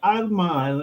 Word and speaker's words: Alma: I'm pronouncing it Latino way, Alma.